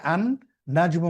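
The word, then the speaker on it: النجم: দেখুন এখানে নাজমুন থেকে আন নাজমু মানে তারকা তাহলে নাজমুন শব্দটির প্রথমে যখন আলিফ লাম নিয়ে আসছি তখন কি হচ্ছে এই লামটা কিন্তু উচ্চারণ হচ্ছে উচ্চারণ না হয়ে পরবর্তী অক্ষরটা তাসদিদ যুক্ত হচ্ছে।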